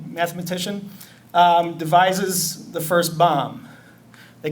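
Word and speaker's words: bombe: Turing brilliant uh mathematician um devises the first bomb they call the b o MBE bomba that's a Polish word but this pronounced bomb um no one knows where that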